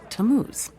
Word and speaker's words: Tammuz: It's pronounced Tammuz.